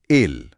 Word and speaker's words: ail: इसका उच्चारण है एल।